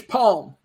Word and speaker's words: Psalm: Oh, Psalm? I don't know if I'm pronouncing it right. I don't know Bible stuff. It's palm. Palm.